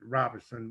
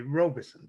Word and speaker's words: Robeson: robeson county and we we actually pronounced it roberson but others who not from here they they say robeson so roberson robinson but